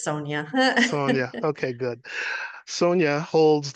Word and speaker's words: Sonya: I was gonna say, Warren, you were so close, but it's Sonia.